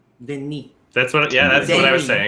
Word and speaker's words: Denis: So in French, the name Dennis is Denis. Denis.